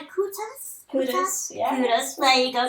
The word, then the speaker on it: Kutas: We have beautiful, I want to get your name correct, Alexandra, how do you pronounce it? Kutas, yeah.